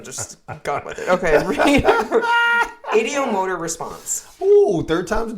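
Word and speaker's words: ideomotor: You said idiomonitor. No, I didn't. Mm-hmm. There's obviously not a monitor. It's motor.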